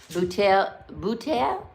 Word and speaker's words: bouteille: It's the L's that I don't get, like bouteille, bouteille, like a bottle, bouteille. It's not the L, it's bouteille, bouteille.